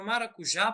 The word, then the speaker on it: maracujá: nós podemos ver aí a palavra maracujá possui a sílaba tônica já e a sílaba átona ma né Essa essas duas